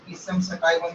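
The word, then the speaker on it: Pisum sativum: Garden pea का biological name होता है पाइसम सटाइवम, कुछ लोग पीसम सटाइवम भी प्रोनाउंस करते हैं इसको।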